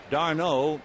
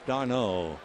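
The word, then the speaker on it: d'Arnaud: Darno is spelled with a small d and then Arnaud. Chase Darno, like a member of the Three Musketeers.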